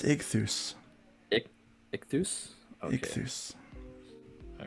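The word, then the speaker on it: Ichthys: Ultimate Kahuna says I believe that's pronounced Ichthus.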